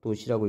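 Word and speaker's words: ℃: 단위를 도시를 쓰고요. 도시라고 읽어요. 도시.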